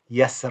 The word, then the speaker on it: يسر: Now, what I've done here is I've converted the ra kasra into a ra sukun. Okay, so remove the kasra and put a sukun there. And the way that I've then pronounced the ra is an empty mouth.